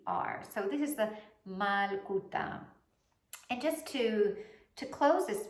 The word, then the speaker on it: Malkootah: But it is pronounced Malkootah.